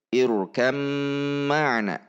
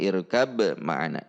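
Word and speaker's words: اركب معنا: Jadi irkam ma'ana, bukan irkab ma'ana. Ini adalah idgham mutajanisain. Demikianlah video kali ini. Semoga ini membantu kita dalam memahami cara membaca kalimat irkam ma'ana atau kalimat lain yang dihukumi idgham mutajanisain.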